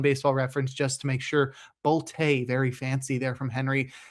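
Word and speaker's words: Bolte: First, we have outfielder Henry Boltay. You'd think it'd be pronounced Bolt, it's b o l t e, but I looked it up on Baseball-Reference just to make sure. Boltay, very fancy there from Henry.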